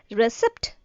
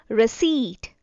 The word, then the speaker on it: receipt: We had the habit of saying it as receipt, but here P is silent, so receipt, receipt.